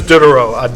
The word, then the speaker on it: Diderot: I don't speak French, but I'll just pretend that's how you say it. Dennis Diderot. I'll say it in American. Dennis Diderot. Say it in English. It's Dennis Diderot, Diderot.